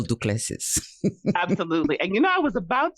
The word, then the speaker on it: Duplessis: so good at spelling, how do you spell Duplessis? Absolutely. And I was about to spell this good old South Louisiana last name. So it's Duplessis, Duplessis.